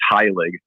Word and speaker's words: Heilig: name yeah it's pronounced high leg so high like h-i-g-h and then leg like it rhymes with pig well uh that's not